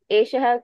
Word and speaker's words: एषः: Eshaha ka. Eshaha mayuraha. Eshaha kaha. To Kaha. pronounce the visarga also.